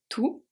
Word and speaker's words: tout: Tout, the T is silent.